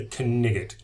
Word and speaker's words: Knigget: There's a silent K in this particular word, isn't it? If you think back to Monty Python and the Holy Grail, this is the Knigget, Galahad Knigget.